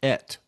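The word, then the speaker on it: את: And then that end part is very interesting because there's a a magical term alaf tav pronounced et in the Torah and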